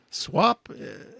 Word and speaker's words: SWOP: introduce my guest who is Andy snow from SWAP is this do we pronounce it swap yeah and it's a sex